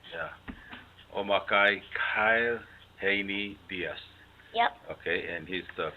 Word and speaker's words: Omakkai Kyle Haney Diaz: Here with me is Omakkai Kyle Haney Diaz. Did I say it right? Yes. Okay. I Very said it right. correct. Yeah. Omakkai Kyle Haney Diaz.